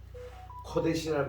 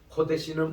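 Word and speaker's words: קֹדֶשׁ: 코데시는 O 발음인데 O 긴 거예요. 코데시 이렇게 됩니다. 우리 따라합시다. 코데시. 코데시. 요게 액센트가 앞에 있어요.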